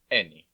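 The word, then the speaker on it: ენი: Next up is the letter Eni. It's pronounced like the S sound in end.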